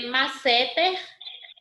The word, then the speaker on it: masseter: Olhando para a palavra, qual é a sílaba mais forte que eu tenho nela? Nesse quadrinho verde, é masseter ou é masseter? Masseter.